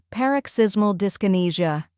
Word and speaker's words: Paroxysmal Dyskinesia: tackling a medical term that many find difficult paroxysmal discinesia by the end of this video you'll pronounce it effortlessly let's break it down step